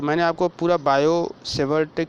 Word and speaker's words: Biot: ठीक है, तो मैंने आपको पूरा बायो सेवर्ट का नियम समझा दिया। देखिए, बायो सेवर्ट लिखते कैसे हैं, बच्चे कंफ्यूज हो जाते हैं। देखिए, बायो, इसमें टी साइलेंट होता है, इसको लिखते हैं हम BIOT, बायो, SAVART, Savart law.